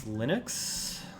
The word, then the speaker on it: Linux: I mean, I have to assume it's Linux. Tux rhymes with it.